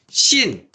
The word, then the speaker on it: sin: 선생님들마다 얘를 그냥 신 이렇게 읽어 버리시는 분들도 계세요.